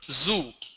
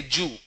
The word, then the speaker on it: zoo: Likewise, wherever there is a Z sound, they replace that with J sound. For example, zoo. The pronunciation is Z and U, zoo. What they do, instead of saying zoo, they say Jew.